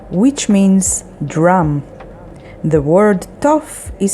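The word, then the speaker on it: תוף: The next word is tof, which means drum. The word tof is spelled with taf, vav, pe sofit, tof.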